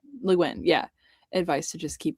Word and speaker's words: Le Guin: my historical fiction, desperately trying to channel Miss Legume's. Is that how you say her name? Le Guin. Le Guin, yeah.